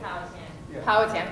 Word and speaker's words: Powhatan: Powhatan. Thank you for helping me pronounce that.